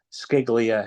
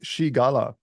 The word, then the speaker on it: Scigala: to this interview uh his name is ska he is the co-founder of the standard uh welcome thank you very much for having me yeah it's it's it's pronounced Shala uh for those out there it's no one